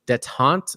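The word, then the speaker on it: détente: 15,000, that's it, 15,000 devils have reached a detente, I believe is how you pronounce that.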